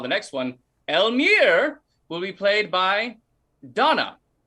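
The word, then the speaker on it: Elmire: call the next one elmir will be played by donna hello i will be playing elmer and we're gonna stick to that pronunciation because i was gonna based off my pronunciation off of yours all right if anyone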